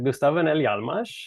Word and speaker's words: Gustaf Öhrnell Hjalmars: be doing this so my name is uh gustavo nelly almas i think you did a good job with the pronunciation there i tried my best of course